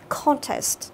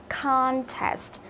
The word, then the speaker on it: contest: Anh sẽ đọc là contest, tức là đọc thành âm O ngắn. Thế còn Anh Mỹ sẽ đọc thành âm A dài, contest.